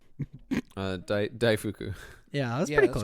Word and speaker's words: daifuku: This is, how do you pronounce that? Daifuku? Daifuku.